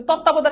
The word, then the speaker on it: তত্ত্বাবধান: তত্ত্বাবধান, এটা আমরা অনেকবার সলভ করছি। দেখো তৎ তা ব দান, তত্ত্বাবধান, শেষ।